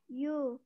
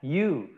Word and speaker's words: you: sesuai pronunciation sesuai pengucapannya kalau kita baca you Nah bukan hiu atau kue bukan dibalik tapi you iya Yu kemudian saya saya itu